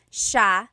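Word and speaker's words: siya: a note about pronunciation it's Sha sha the SI i y combination makes the Sha sound in theog some regions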